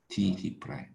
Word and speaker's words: D': D 프라임이라고 읽습니다. 그대로 D 프라임.